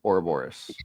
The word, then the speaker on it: Ouroboros: Did I say it right? Ouroboros? Mm-hmm. Yep, Ouroboros.